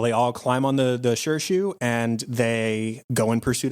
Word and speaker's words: Shirshu: And they've seen June use her sure shoe, which I've got to shout out Netflix for your awful captions.